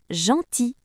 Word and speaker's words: gentil: Dans certains mots, la lettre I et la lettre L à côté fait le son I comme dans gentil.